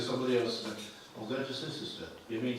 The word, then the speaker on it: Cirencester: what locals tell you about their place name pronunciation. Yes. The number of times I've said, we're going to say Cirencester. You mean Cirencester? Yeah. Then said to somebody else, I'm going to Cirencester. You mean Cirencester?